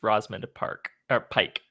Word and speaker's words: Rosamund Pike: I'm probably going to say it wrong too, but I believe it's Rosamund Park or Pike. Pike. Wow, That I was did say it great.